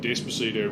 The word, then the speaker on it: Despacito: That's called a bunch of boring bullshit based on the idea that Despacito rhymes with bandito and sounds vaguely horny.